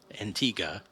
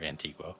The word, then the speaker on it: Antigua: setup for the episode Antiga is they I don't know or Antigua however you want to pronounce that but uh yeah they